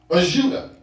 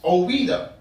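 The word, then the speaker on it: Ouidah: The Portuguese could not pronounce Ouida, so they called it Juda, because of their inability to say Ouida, as the French had named it.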